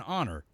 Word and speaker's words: honor: so we say an honor an hour or an heir for example cuz the initial letter H in all three words is not actually pronounced by contrast we say